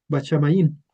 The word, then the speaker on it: HaShamayim: Este este concepto de tercer cielo se pronuncia bachamaín.